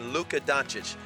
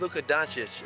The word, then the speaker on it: Luka Dončić: I had no problem saying Luka Doncic. Some people say Luka Doncic. No, it's Luka Doncic.